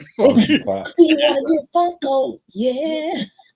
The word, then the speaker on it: Funko: You said funky pops. Even though it's Funko, but I like funky funky funky. Well, it sounds better. Yeah. Funky. Do you want to get Funko?